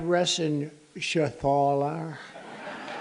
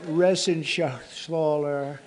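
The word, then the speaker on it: Reschenthaler: thank you and Guy Ren Shaler you know that Ren Shaler he's uh that's actually the way you pronounce it you know nobody else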